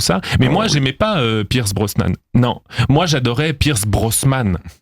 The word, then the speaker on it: Pierce Brosnan: J'ai un dernier exemple plus perso d'un mot que moi j'ai très longtemps mal prononcé, c'est le nom d'une personnalité. Moi, j'ai grandi dans les années 90, une époque où James Bond était incarné au cinéma par Pierre Brosn Pierce Brosnan, c'est ça ?